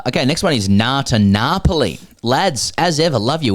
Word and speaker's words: Napoli: to understand is that it's pronounced Napoli, as in I'm having a nap.